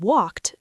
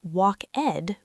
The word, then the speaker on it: walked: So, the word walked, we don't say walk-ed with two syllables. We say walked. Like the letter T at the end.